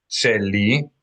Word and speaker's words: Sheli: Sheli, S-H-E-L-I equals my. S-H-E-L-I equals my. Sheli. In Hebrew transliteration, I's usually make an E sound.